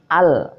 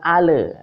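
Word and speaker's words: ال: membaca tawallud asalah disini jadi lam ini bukan Qalqalah tidak boleh memantul jadi membacanya Al bukan Ale biasanya sangking enaknya sangking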